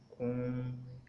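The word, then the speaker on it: comb: बी इज़ not pronounced when following M एट द एंड ऑफ the word. अगर बी के बाद एम आ रहा है, यानी कि एम से एम आ रहा है और उसके बाद बी आ रहा है, तो बी साइलेंट हो जाएगा। जिस तरह से क्लाइम, क्रम, डम, कोम। अब इसमें आप जो है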